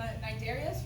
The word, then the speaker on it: Cnidaria: They'll feed on juices from the cnidarias. The C is silent.